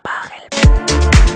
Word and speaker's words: Pachelbel: Así que nada, espero que hayáis disfrutado del vídeo y la próxima vez que escuchéis el canon de Pachelbel, recordad, se pronuncia Pachelbel.